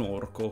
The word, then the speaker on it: orco: fosse appunto un orco un orco come come cada l'accento cade con la o stretta Comunque se ve lo